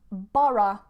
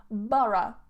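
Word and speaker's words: borough: schwa Oh for example bara bara don't look at the spelling guys cuz if you look at the spelling you're gonna get seriously confused bura bura it's sometimes cheaper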